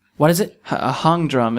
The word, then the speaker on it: hang drum: A hung drum. It's spelled like hang drum.